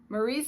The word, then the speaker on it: Marie: Marie's name is accented on the second syllable, Marie, and Alex's name is Alice.